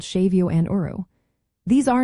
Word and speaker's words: séimhiú: Shavio pronounced shavio is like softening a consonant.